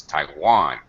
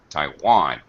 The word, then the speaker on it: Taiwan: Okay, and English would pronounce this Taiwan. Taiwan. Taiwan. Taiwan. It's the second syllable stress, right?